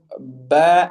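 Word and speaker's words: ب: The letters ba and mim are pronounced by bringing the two lips together. So, very simply put, basically closing your lips, both lips together, and closing them tight. Ba, ab, ub, ib. Again, ba is ab, ub, and ib.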